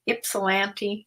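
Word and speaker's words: Ypsilanti: for this went to ipsilanti ipsilanti is how you pronounce it Michigan and this this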